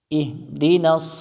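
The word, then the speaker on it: اهْدِ: মিলবে হা এর সাথে ইহ দাল জের দি ইহ দি ইহ দি এখানে অনেকজন যে ভুলটা করে সেটা হচ্ছে ইহিদি পড়ে ইহিদি হা এর নিচে এখানে জের নাই এখানে সাকিন আছে আমরা ইহদি পড়বো ইহদি নুন জবর না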